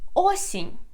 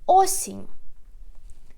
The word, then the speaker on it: осінь: And the last word is autumn or fall, is осінь. Осінь. We put the stress again on the first syllable. Осінь. Repeat after me. Осінь. One more time. Зима. Весна. Літо. Осінь.